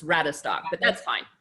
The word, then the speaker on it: Radestock: announcing that right okay your last name is rad stock it's rabbit stock so Hackney three syllables rat a stock but that's fine it's